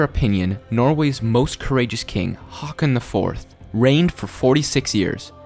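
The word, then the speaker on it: Haakon: was pronouncing it right I hope it's pronounced Hawk as in a bird on turn your Hawk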